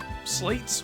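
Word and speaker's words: Sleights: Now, I believe that's pronounced slits. I have heard people say slates before, but I don't think that's what it is.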